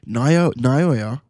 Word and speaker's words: Naoya: Basically what he says is basically Naoya, that's how you pronounce his name.